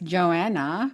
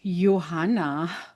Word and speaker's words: Johanna: And here in America, my name is pronounced as Johanna, Yes. but in my language, it's Johanna. So the J is like my name.